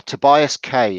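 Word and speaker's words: Tobias Kaye: If you look Tobias K, is it? Yeah, it's spelled Kaye. Yeah, Tobias K.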